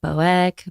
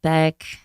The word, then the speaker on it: Boeck: pronounce my last name it's technically pronounced B like one syllable which is what I always say which I'm relieved by but yeah but it's like boek Beck I don't know it's